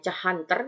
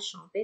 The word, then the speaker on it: chanter: Kalau dia bukan kata kerja lampau, dia er juga sama bacanya. Ya, tulisannya chanter dibacanya chanter sama.